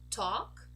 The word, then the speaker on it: talk: a pattern very good so when we have a word that has a l and it ends in a k we don't actually say the L as in a dark l or a light L not at all we just saying all this representation here this